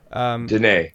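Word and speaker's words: Diné: Hopi, Apache, Ute, or Dine, or Dine, he says the way it's pronounced, Danae.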